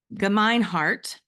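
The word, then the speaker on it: Gemeinhart: for you and I'm GNA make sure I pronounce um Dan's name correctly it's ginart ginart Dan ginart coyote um Sunrise is also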